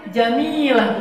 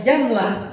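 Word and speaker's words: جميلة: Jadi kalau kita mau bilang istri kita cantik, jamilah bukannya jamlah itu jadi onta betina namanya. Jamilah. Jadi harus pakai ditekan inya Arab lah ya.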